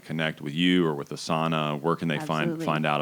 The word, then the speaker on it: Asana: It's ASANA, like the yoga term, Asana, except we pronounce it a little differently.